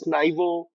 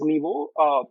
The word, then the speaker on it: NYVO: Some some some people you know pronounce this as Naivo. I we pronounce this as Nibo.